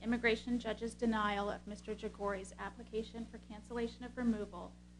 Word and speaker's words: Jaghoori: How are we pronouncing the petitioner's name? Jagori. Jagori.